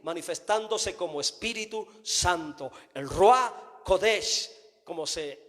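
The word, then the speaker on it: רוח הקודש: En la revelación del nuevo pacto miramos a Dios en su espíritu manifestándose como Espíritu Santo, el Ruach Kodesh, como se pronuncia en hebreo.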